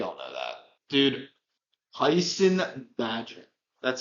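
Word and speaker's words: Bagent: Dude, Tyson Badger.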